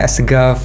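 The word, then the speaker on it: السقاف: Padahal tulisannya As-Saqaf, tapi bacanya Asgaf gitu.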